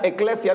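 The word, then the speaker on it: ekklesia: los que estamos aquí en griego se pronuncia eclesia diga conmigo eclesia la eclesia tiene que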